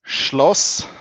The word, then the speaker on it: Schloss: It's how do you pronounce it? it's Schloss.